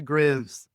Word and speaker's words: Graves: Did I say this name wrong? I really don't have a problem pronouncing it, but we pronounce it Graves.